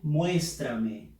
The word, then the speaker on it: muéstrame: Dice, muéstrame. Fuerza de voz en la sílaba mues.